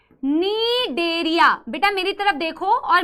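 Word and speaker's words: Cnidaria: Problem हो रही है नीडेरिया लिखने में, ठीक है। सीलेंट्रेटा या नीडेरिया, इसको बेटा नीडेरिया नहीं बोलना है, ठीक है, ठीक है, सी साइलेंट है, नीडेरिया या फिर सीलेंट्रेटा,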